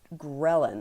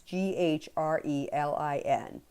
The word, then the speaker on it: ghrelin: There is also a overproduction of a hormone called ghrelin. I'm assuming that's how it's pronounced. It's Grelin.